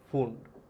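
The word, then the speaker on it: Pfund: তাকে আমরা কি বলবো না ফুন্ড পি এফ ইউ এন ডি এখানে পি টা সাইলেন্ট থাকে বুঝতে পারলে এই হলো সিরিজটা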